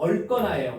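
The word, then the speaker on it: 얽거나: 자, 억거나가 아니고 얼거나예요. 왜요? 기억 왔으니까.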